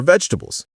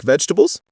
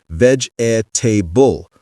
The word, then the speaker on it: vegetable: l e and think veg table. Four syllables. Veg a tbull. That sounds unnatural and foreign to native speakers. The correct pronunciation is three syllables. Vegetable or vegetable. The middle e disappears completely.